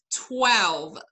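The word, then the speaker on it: twelve: مش lesson number خدت بالك قريتها زي مش lesson number 12 لا هو lesson number 12 هي اولا هنا بعد ال W هي A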